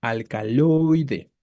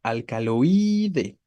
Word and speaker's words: alcaloide: tónica en estas vocales alcaloide no entonces escuchen al momento de la pronunciación Hacia dónde se va la fuerza hacia hacia la o no alcaloide Si fuera hacia la i diríamos alcaloide no entonces jueguen les reitero